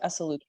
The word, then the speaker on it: Esaluka: It's just sounds like how it's spelled, Esaluka.